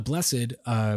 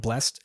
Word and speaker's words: Blessed: The Blessed, which is they specify is with 2 syllables, so not blessed, just blessed.